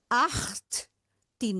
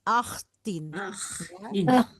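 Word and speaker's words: achttien: Aktin. Jadi dibaca dulu akhtnya kemudian tin. Aktin. Aktin.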